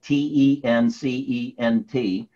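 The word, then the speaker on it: Tencent: China to mirror Amazon ten cent ten in it it is pronounced and spelled te NC ENT and ten cent is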